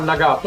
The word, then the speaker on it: Nagato: @Tomas & Mikke (correcting their pronunciation and giving affirmations) @John (giving phonetic instructions): The emphasis is on the "to" not on the first "a".